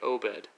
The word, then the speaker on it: Obed: So for example, you'd have O and then the dash, bed. So you would say Obed.